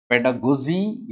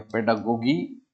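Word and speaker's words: pedagogy: पेडागोजी या पेडागोगी एक ही बात है।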